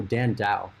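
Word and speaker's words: Dhandho: the other day one was hundred beggars oh dan dao dan dao and this is how you spell it because i've seen a few of you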